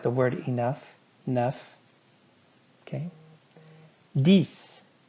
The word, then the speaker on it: dix: Dix. Dix and six rhyme.